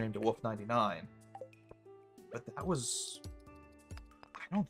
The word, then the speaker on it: Wolfe: And most people don't know, like they assume the spelling of my last name is the normal spelling of wolf. So it almost takes advantage of that. Like I said, most people aren't going to spell my last name with an E at the end, which is how it is pronounced and spelled.